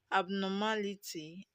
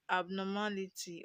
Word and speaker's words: abnormality: We have abnormality. Abnormality. Okay. Now we have a word that ends with ty. The stress is on the anti-penultimate syllable, which is the third syllable from the end.